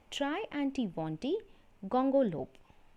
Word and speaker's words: Triantiwontigongolope: end he once again asked the reader to pronounce the name try antibondi gongolope thank you